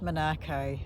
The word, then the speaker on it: Monaco: named after Monaco, but it's been known as Monaco for 100 years or more by the English and European settlers. So it will be pronounced Monaco forevermore, probably.